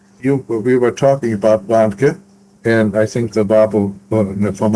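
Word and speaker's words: Warnke: Now you we were talking about Vanka and I think the babble for Montgo and first of all is the combination of Vanka W A R N K E his first name was Christian.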